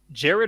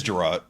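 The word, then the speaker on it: Jerrod: Is it pronounced Jared or Gerard? It's Gerard. It's Gerard Carmichael.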